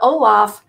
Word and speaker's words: Ollam: But Ollam is the way you say it.